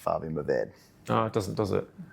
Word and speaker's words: Mourvèdre: Mourvèdre, is that how you pronounce it? I mean, I'm not French, so I mean my we say Mourvèdre or Mourvèdre. People say Syrah, Shiraz, like everyone has that. And Aussies say Mataro. Mataro is the same as Mourvèdre. We like to think we're quite sophisticated in Franklin. We use the French pronunciation.